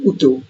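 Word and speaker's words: YouTube: যেমন ইউটিউবের উচ্চারণ ইটালিয়ানরা করে থাকে উটুব।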